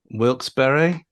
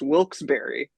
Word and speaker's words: Wilkes-Barre: This is confirm Wilkes-Barre. That is actually shockingly close. Wilkes-Barre. Wow. Yeah. Despite the fact that it looks like Wilkes Bar, you have to get the point for that because that is stunningly absolutely.